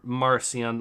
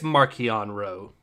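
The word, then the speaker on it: Marchion Ro: Winners King says, is it Markion or Marcion, like French name? I think it's Markion Ro. Say Markion, I will not have any French names pronounced in this session.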